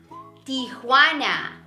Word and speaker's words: Tijuana: the city in Mexico called Tijuana Tijuana hey by the way did you remember that that letter hold that Jay sounds like an H the wanna be Wanna